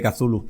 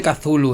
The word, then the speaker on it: Cthulhu: No se dice Cthulhu, es Chullu. O sea, a ver si empezamos a hablar con... Está pensado para que ninguna garganta humana pueda pronunciarlo, con lo cual yo creo que debemos aceptar cualquier aproximación.